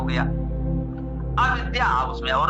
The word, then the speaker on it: अविद्या: ध्यान देने योग्य है, लोग भूल इसमें अधिक करते हैं, अविद्या, अविद अविद्या, तब ये इसका उच्चारण शुद्ध होगा।